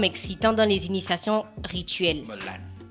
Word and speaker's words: melan: Melan. Mais non, mais là, il n'y a pas de E. Non, mais on dit Melan. Mais tu as dit mélan. Je me suis trompé.